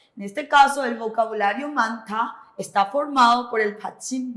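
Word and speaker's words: 많다: Es la niet, se omite la hiet, entonces suena manta.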